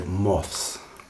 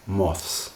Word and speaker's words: moths: Also, if you take the word moth, for example, you would like to be able to say moths. moths. I'm pronouncing it very carefully there.